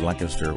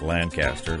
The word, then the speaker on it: Lancaster: Please note that I said Lancaster one syllable, not Lancaster, like all other out-of-state pilgrims.